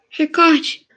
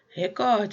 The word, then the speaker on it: recorde: ler a última o recorde recorde certinho é paroxítona né eu já tinha dado esse exemplo muita gente usa record mas na verdade é record paroxítona alguém ficou com dúvida